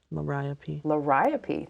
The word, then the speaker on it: Liriope: Is it Liriope? Liriope, thank you.